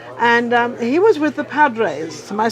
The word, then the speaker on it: Padres: Now, Shawn is actually from San Diego, and he was with the Padres.